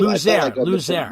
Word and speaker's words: Luzier: Luzier. Mispronouncing it the whole time.